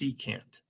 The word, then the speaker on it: secant: c o s sock well actually it's not sock it's secant okay yeah i can't